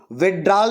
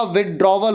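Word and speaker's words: withdrawal: विड्रॉल नहीं होता, विड्रॉवल होता, WITHDRAWL, DRAWL, विथड्रॉवल, DRAWAL, drawer, विथड्रॉवल, DRAWAL।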